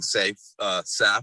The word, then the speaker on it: Saif: Most people who do have the same name would say safe.